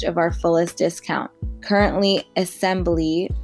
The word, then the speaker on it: Esembly: Currently, Assembly, which is spelled ESEMBLY, is offering 15% off your first order.